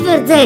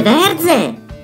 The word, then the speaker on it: Verze: Ma amore non si dice Verzè, si dice verze.